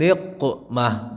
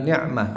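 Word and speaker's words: نقمة: Ilahi la ilahi salimil ummah minal afati wan niqmah, bukan ni'mah. Karena ilahi salimil ummah.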